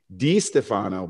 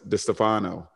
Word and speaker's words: DiStefano: And some people would say it's Joe DiStefano, but he likes DiStefano.